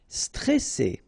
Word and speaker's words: stressé: Stressé. Okay, remember you've got double S here, so you pronounce it really strong.